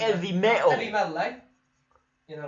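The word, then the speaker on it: 'Eavy Metal: I think it's Heavy Metal, but they just took it's spelled EV Metal, EAVY Metal, but I think it's pronounced like Heavy Metal. You know what I mean? Like with like very European pronunciation. Heavy Metal.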